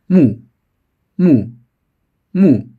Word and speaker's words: 木: How to read? Lead sound man, ma, ma, mo, mo. Follow sound wood, wu, wu, wu, wu. Mo, wu, mu, mu. First one mu, mu, mu.